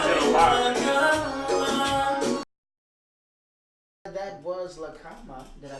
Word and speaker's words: La Cama: That was La Cama.